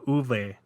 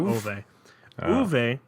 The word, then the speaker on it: Ove: free ones uh and I pronounced the name wrong completely it's uve not ove and ill-tempered isolated retiree